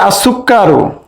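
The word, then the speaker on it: السكر: পারি হুরুফুস শামসিয়া এরপরে আসুক্কারু আসুক্কার এখানে লাম উচ্চারণ হচ্ছে না তাই এটাকে আমরা বলতে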